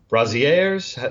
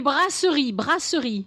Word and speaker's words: brasseries: I think you call them brasiers. Is that how you say it? Des brasseries. Brasseries.